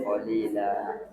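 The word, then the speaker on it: قليلا: Minhu qalila. Nah, dibaca Karena ada fathatain diikuti alif di akhir kalimat atau diwakafkan. cara membacanya 1 alif 2 harakat.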